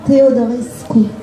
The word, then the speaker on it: Teodorescu: Vous me corrigez sur la prononciation? Alors, Teodorescu.